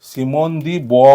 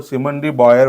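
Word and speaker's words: Simone de Beauvoir: feminist activist आहे आणि correct उच्चार ह्या ह्या नावाचा करेक्ट उच्चार हा सिमोन बोवा होतो काय होतो सी सिमोन बोवा होतो सिमंडी बॉयर वगैरे असं काही होत नाही ओके सिमोन बोवा तर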